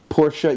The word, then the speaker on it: Porsche: a Porsche gu and by the way my pronunciation porsa yeah I speak some